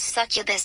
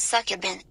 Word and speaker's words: succubus: It's pronounced succubus, not succubin.